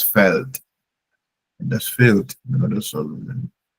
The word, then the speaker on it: Feld: Okay, but in German it's das Feld. In German, felt E. There's no I in field. Okay, but it's the same field in English. Okay, so that's felt.